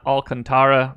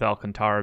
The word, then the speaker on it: Alcantara: Sandy, not Alcantara, because that's not how it's pronounced, evidently. I'm going to stick with Alcantara because that's how it should be pronounced.